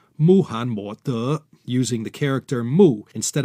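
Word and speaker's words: 穆罕默德: Mohammed in Chinese is pronounced Muhan Mo De, using the character Mu instead of Ma.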